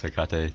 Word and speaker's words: Hecate: And my name's Hecate too, and I play Ironman. Wait, Hecate? Is that really how you pronounce it? Hecate? Oh, yeah. wow.